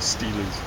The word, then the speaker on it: stele: 3 stales, or tablets of Seth. Steles. Steles? Ordinarily, I would say stele would be a better pronunciation.